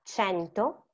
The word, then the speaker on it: cento: C and A is C, e diventa cento, cento.